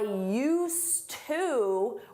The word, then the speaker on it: used to: And for that we need used with a D. You don't hear it in pronunciation but is there in spelling. I used to work at the bank but now I work at the mall.